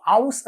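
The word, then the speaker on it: aus: ഇഷ് കൊമ്മെ ഔസ് ഇന്ത്യൻ. ഔ ഔ ഔസ് എന്നാണ് പറയുക. നമ്മൾ ഔഷധത്തിൻ്റെയൊക്കെ ഔ എന്ന് പറയില്ലേ, ആ ഒരു ഔ എന്നുള്ള ഉച്ചാരണം വരും, അതിൻ്റെ കൂടെ എസ് ചേർക്കാം.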